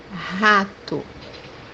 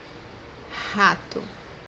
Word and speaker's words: rato: which is in Portuguese rato, rato, So this letter, when it comes by the beginning of the word or as a second letter, we can pronounce it as H in English.